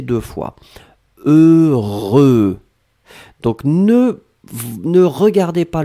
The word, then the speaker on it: heureux: après que vous avez eu eux le voulaient prononcé deux fois heureux donc ne ne regardez pas le h ne